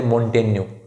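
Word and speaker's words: Montaigne: Michel दे मोंटेन्यू, हालांकि आपको मोंटेग्ने जैसा दिख रहा है, लेकिन उच्चारण होगा मिशेल दे मोंटेन्यू।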